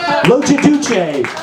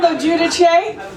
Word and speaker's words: Logiudice: Logiudice. That was so far from how you say my name. It's Logiudice.